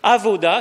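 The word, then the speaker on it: עבודה: le culte en hébreu se dit avoda avoue d'ailleurs une lettre qu'on a du mal à prononcer avoda quand un petit israéliens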